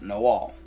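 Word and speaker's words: nahual: werewolves in mexico uh they are known as the nahuwal or the nagawa but both are pronounced no all so spelt no way nowhere near close to how that's pronounced so even though the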